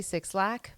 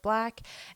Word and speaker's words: 6LACK: and that is black I always want to say six laak but I do believe it is pronounced black and the album that